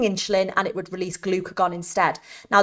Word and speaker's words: glucagon: It would stop releasing insulin, and it would release glucagon instead. Now, the way I remember this is glucagon, if you say it like that, it sounds like glucose has gone, right?